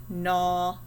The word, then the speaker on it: gnaw: those words i don't what about nat gnaw and gnome do you hear a g in any of those words me either down here